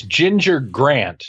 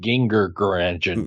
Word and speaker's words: Ginger: but you can't have a soft G and a hard G in the same word. It's Ginger Grant, not Ginger Grant.